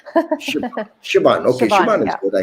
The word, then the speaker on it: Siobhan: Siobhan, it's fine. It's a real Irish name, nightmare spelling. Siobhan.